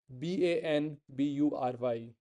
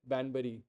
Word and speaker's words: Banbury: was in Oxford there was a place called b a n bu r y banb how do you pronounce it b n b r y Banbury but nobody says it banur they will say bambur bambur with the N